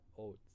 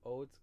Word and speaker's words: haute: And so you don't pronounce the E in haute. It's just haute couture.